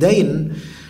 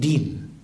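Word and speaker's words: الدين: Fadfar bidzatid din, bacanya din, fadfar bidzatid din, bukan fadfar bidzatid dain, yaitu raihlah yang punya agama bagus.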